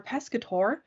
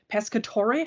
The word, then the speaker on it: Pescatore: i pronounce your name it's a little weird because in in english you pronounce it one way and in italian you pronounce it a little bit differently so okay pascatore okay i'll try to